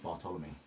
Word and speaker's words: Bartolome: So it all leads down to Bartolome. You know what? I didn't even know how to say your last name. Bartolome. Bartolome. There's like an Bartolome. accent on the E.